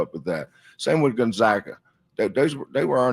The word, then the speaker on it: Gonzaga: It's Gonzaga.